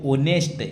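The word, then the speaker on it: honest: एच तो silent है। दिखने में तो कैसा है? एच व्यंजन है लेकिन साइलेंट है। ध्वनि किसकी आ रही है? ओ ऑनेस्ट ओ की आ रही है तो एक स्वर है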